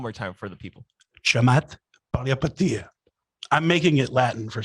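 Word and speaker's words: Chamath Palihapitiya: was, but also the fact that he could pronounce the person's name. So if you can, please, Chamat Palihapitiya. one more time for the people. Chamat Palihapitiya.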